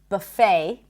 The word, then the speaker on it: buffet: And also the word buffet. In American English, the T is not pronounced. Buffet.